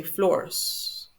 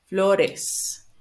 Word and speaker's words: flores: have to add the es, sometimes you say floors. It's not flores, it's flores. We need to pronounce this is an extra syllable that we need to pronounce the es. So, cuadros, bananas, perros, coches, flores, relojes, doctores, peces.